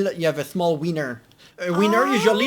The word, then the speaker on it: Wiener: The German W is pronounced like an English V, and it usually refers to the sausage.